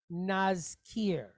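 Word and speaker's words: נזכיר: So the word or this syllable is pronounced naz. Naz. Then we have a kaf, and it's pointed kirik yod. So long duration I type vowel with a resh behind it. K, ear, kir. So the word is nazkir.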